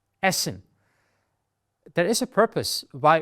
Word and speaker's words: Essen: here a dou s Essen there is a purpose why we do that it shortens the pronunciation of the vowel before it so sometimes the vowel